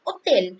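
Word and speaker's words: hôtel: also some they're like hotel or loge and omo and if i have open hotel world like in the uh english we have hotel and in french we say hotel so uh h-o-t-e-l with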